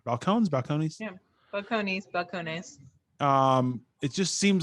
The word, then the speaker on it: Balcones: How do you pronounce it? Balcones? Yeah, Balcones.